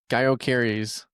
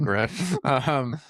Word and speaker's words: Gyökeres: And it is Gaio Carries. Oh my God. Gyökeres.